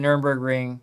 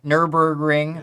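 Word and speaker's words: Nürburgring: So, here we are at the Nerburgg Ring. Nurburgg Ring. Sorry, Josh. One less syllable.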